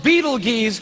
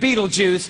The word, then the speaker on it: Betelgeuse: heard about this star it's called beetle G's or Beetle Juice she can pick your pronunciation I'm obviously going with Betelgeuse and Betelgeuse is incredible